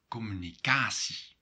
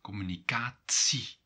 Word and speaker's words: communicatie: Another difference is the pronunciation of this word, communicatie. And the end here, the C, in Belgium is C, but in the Netherlands it will become C with the T sound in it, communicatie.